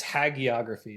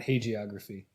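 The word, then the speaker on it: hagiography: Okay, Google says it's hagography, not hoggraphy. Hagography.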